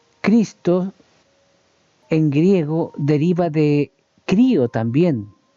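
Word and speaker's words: χρίω: ese este verbo palabra griega, ese verbo que se pronuncia crío y crío significa de forma literal untar o frotar.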